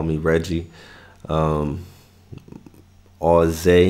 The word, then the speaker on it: AUZAYE: call me reggie um all zay is how you say the name you know that's my